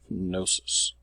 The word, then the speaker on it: Knossos: So that's how you pronounce that. Knossos.